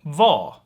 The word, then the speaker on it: var: means where we're where and r is often dropped here so vo vo yeah all right but